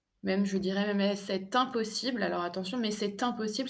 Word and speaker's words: c'est impossible: Même, je dirais même c'est impossible. Alors attention, mais c'est impossible, c'est parce que je fais la liaison entre le T du c'est et le I de impossible, hein.